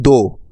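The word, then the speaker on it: though: টি এইচ ও ইউ জি এইচ এই শব্দটার উচ্চারণ হবে দো দো অর্থ যদিও আর টি এইচ আর ও ইউ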